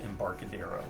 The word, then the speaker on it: Embarcadero: all right so embarcadero at first i thought it was had a spanish pronunciation that way but i watched renegades uh gen con preview of this and they just said embarcadero so keep it simple the designer publisher of